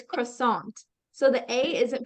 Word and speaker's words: croissant: um pastry and so it has a French pronunciation iation it's croissant so the a isn't pronounced like sharply it's pronounced with um more of a lower tone so it's croissant croissant croissant yeah croissant so that's that's a